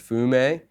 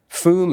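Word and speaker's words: FÜM: how to pronounce it it's a long u yeah yeah and then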